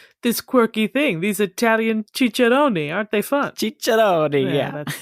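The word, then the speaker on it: ciceroni: first and it was spelled like the Italian plural which is chichoni with an i at the end right and when it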